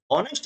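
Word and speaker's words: honest: अब यहां पर एच क्या है? साइलेंट है, ऑनेस्ट है, और ओ साउंड हो रही है वावेल की, इसलिए आएगा एन।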